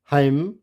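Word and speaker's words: hymn: तो ये कॉलमन नहीं होगा, क्या होगा, column, autumn, dam, हाइम, condemn और सोलेम।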